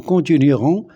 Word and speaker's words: continuerons: C'est un verbe en ien et au futur simple, il garde le E et le E ne se prononce pas. Nous continuerons les recherches jusqu'à ce que nous retrouvions les disparus.